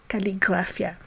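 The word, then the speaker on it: קליגרפיה: geography we say geographia and to say calligraphy we say calligraphia now the suffix ology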